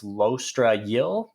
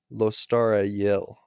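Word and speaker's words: Lostara Yil: that person immediately kills sheik her name is lostra yill in case you were wondering the narrator of the audiobook who is obviously the ultimate authority on all things pronunciation pronounces her name lostara yell yeah i forgot the t i'm sorry anyway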